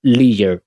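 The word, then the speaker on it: leisure: इसको लीजर भी पढ़ सकते हैं। लेयर भी पढ़ सकते हैं। लेयर मत पढ़ें। क्योंकि वह सही प्रोनाउंसिएशन नहीं है। तो लीयर अमेरिकन प्रोनाउंस करते हैं। लेयर ब्रिटेन प्रोनाउंस करते हैं और लेयर हम प्रोनाउंस करते हैं।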